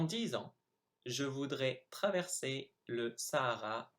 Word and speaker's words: traverser: So here are the 8 words I mispronounced. So I should have said the second time traverser, dans, tout, Afrique, chameau, serait, génial, nul.